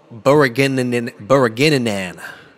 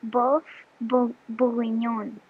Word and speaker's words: bœuf bourguignon: Bourguignon. That was wrong. Can you pronounce it? Bœuf bourguignon.